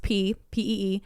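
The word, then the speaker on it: ผี: the environment the word p spelled Phi but pronounced p PE refers to Spirits or ghosts in Thai and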